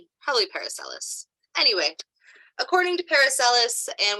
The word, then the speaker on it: Paracelsus: Thank you, Paracelsus. Cool, good to know. Since you know how to pronounce his name, Paul, does that mean you know about his philosophies and his teachings?